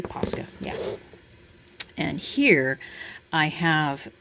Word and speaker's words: Posca: Am I pronouncing that correctly? Posca, yeah.